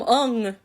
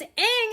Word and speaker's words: Aang: It's like, hi, I'm Ung. I'm Sokka. It's like, no, it's Aang and Sokka.